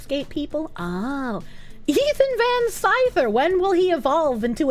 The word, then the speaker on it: Scyther: people oh Ethan van Scyther when will he evolve into a Scizor it is indeed skyver well I'm going to not pronounce it that way cuz it's not spelled that way EVS has been beefing